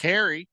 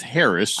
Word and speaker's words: Harris: Moldy Tuna Fish says, I want to ask Harry, the new guy. It's not Harry, it's Harris.